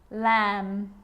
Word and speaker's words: lamb: It's always silent when it follows the letter M. Climb, crumb, lamb, thumb, dumb, and plumber. So practice them with me. I'm not pronouncing the B, I'm just pronouncing the M consonant sound.